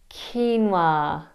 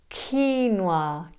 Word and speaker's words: quinoa: Quinoa. It's not quinoa, it's quinoa, quinoa, because of its Spanish roots.